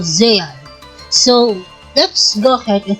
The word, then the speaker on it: Zexal: Zeal, or Zexal if you are a English dub watcher. But for me, I am referencing the Japanese name of this anime, and the way they pronounce it is Yu-Gi-Oh! Zeal.